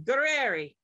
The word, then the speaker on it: Gurreri: great really Grandma gueri we need to think Italian think Italian gueri I have a dear friend that just went to Italy so I can use that channeled energy to properly say gueri Prem gueri is here